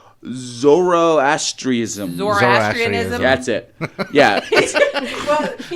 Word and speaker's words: Zoroastrianism: We have, God, this is going to be a fucking mouthful to pronounce. Zoroastrianism. Zoroastrianism.